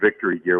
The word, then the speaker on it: VKTRY Gear: And first of all, it's pronounced Victory Gear.